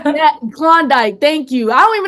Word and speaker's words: Klondike: con what is it a conduct bar oh Klondike yeah that kondik thank you I don't